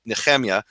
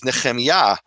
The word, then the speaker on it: Nehemia: kamat Eli yahu and my name properly people call me neia that's actually an Eastern European pronunciation of my name the proper Hebrew undisputable my name is neya and um I only